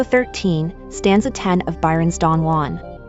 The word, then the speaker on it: Don Juan: stanza 10 of Byron's Don Juan. A title, incidentally, pronounced /dandun/ by the author, as the poem makes clear.